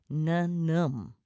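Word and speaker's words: ញញឹម: Na-num.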